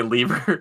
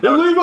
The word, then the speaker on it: Levi: I was not going to say Lever. Yeah. Levi, how do you spell that? Levi like the jeans.